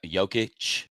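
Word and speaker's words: Jokić: Joic is how you pronounce it.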